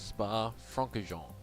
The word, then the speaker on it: Spa-Francorchamps: So it's pronounced Spa-Francorchamps.